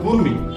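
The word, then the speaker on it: gourmet: এম ই টি গুমিট কিন্তু silent হওয়ার কারণে উচ্চারণটা হবে গুরমিট এবার তুমি বানান করো রেপর আর এ পি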